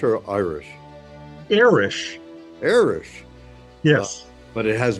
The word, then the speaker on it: Erish: My my greatgrandfather was Hungarian and the I think the guy at Ellis Island saw the Hungarian name and pronounced it Irish.